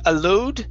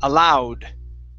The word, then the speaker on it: aloud: word aloud right here instead of a load it's allow aloud aloud okay good and the last